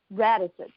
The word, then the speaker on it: Radostits: So I'm embarrassed to ask this, but pronunciation of your last name is Radostits? Radostits.